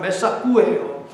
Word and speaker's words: 메삭: 역시 사꾸의 정확한 발음은 메사꾸예요.